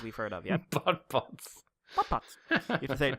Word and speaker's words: BotBots: BotBots. You have to say it like that.